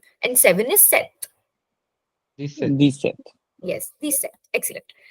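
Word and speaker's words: sept: Set. Set. Set. The P is silent here.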